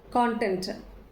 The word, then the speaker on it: content: இதை வந்து நம்ம நவுனாக ப்ரொனவுன்ஸ் பண்ணுறோம் அப்படின்னு சொன்னால் கான்டென்ட். இது எந்த வேர்ட்ஸோட ரைம் ஆகி வரும் அப்படின்னு சொன்னால் லான், ப்ரான். ஸோ இது அதோட சவுண்டு கான்டென்ட்.